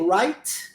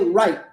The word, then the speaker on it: right: Eu posso dizer right, viu? Não omitir o som do T. Ou eu posso dizer right e engolir o T.